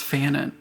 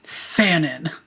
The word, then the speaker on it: Fanon: His name is a dude talking about violence, has a name that rhymes with cannon, and that would mean he is simply waiting to appear in a Hamilton-esque musical. Imagine the Lin-Manuel Miranda Fanon.